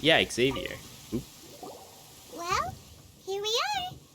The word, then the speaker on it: Xavier: Xavier? What are you doing here? It's pronounced Xavier.